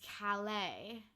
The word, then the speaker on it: Calais: So I didn't know it was Calais.